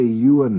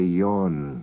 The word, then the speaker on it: Ewan: And you notice we don't say Ewan in Manx, we say Ewan. E-W-A-N is pronounced Ewan.